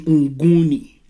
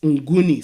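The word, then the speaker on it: Mguni: is spelled m-n-g-u-n-i while the name of the group is unguni spelled m-g-u-n-i so the in guni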